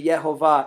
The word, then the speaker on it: יְהֹוָה: this wasn't the kite way however he could pronounce the name and he incidentally knew it to be yehovah even before I shared this detail with him